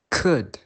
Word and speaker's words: could: And the letter L can be silent in many cases, especially when the L is difficult to pronounce. For example, could, should, talk.